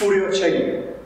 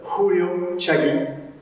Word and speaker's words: Huryo Chagi: On entend très souvent le nom de ce coup de pied prononcé avec un F, Huryo Chagi. Cependant, le phonème F n'existant pas dans la langue coréenne, celui-ci se transcrit plutôt avec un H qu'il va s'agir de prononcer en le soufflant, ce qui nous donne Huryo Chagi. Mais on entendra très fréquemment des Occidentaux prononcer plutôt Huryo Chagi.